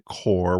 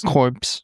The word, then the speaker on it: corps: So, for whatever reason, because of the English language, the P and the S is not pronounced silence, man.